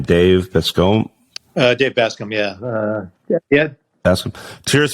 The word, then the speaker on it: Bascombe: Dave Bascombe.